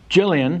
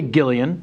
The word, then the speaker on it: Gillian: me try first cool Jillian no because there is a g so you want to say Gillian it is Gillian okay and then the